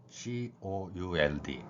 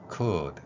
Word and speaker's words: could: could, could 이 단어의 소리들을 살펴보도록 하겠습니다. 뭐뭐 할 수 있다의 의미를 담고 있죠. C는 키읔에 해당하고요. OU가 우로 발음됩니다.